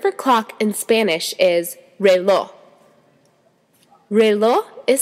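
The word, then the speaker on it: reloj: tree the word for clock in Spanish is REO REO is spelled r e l o j here's another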